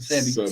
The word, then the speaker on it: Sebi: That's how you pronounce it. Dr. Sebi.